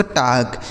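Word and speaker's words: talk: इसे पढ़ा जाता है दोस्त टाक। टी ए एल के टाक। सॉरी टाल नहीं टाक। पढ़ेंगे। ठीक है? यहां जो एल लिखा है दोस्त यह साइलेंट है। मतलब इसका उच्चारण नहीं होगा।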